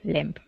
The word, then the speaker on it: limb: scratch okay okay and the B on the word limb is is silent silent limb limb there you go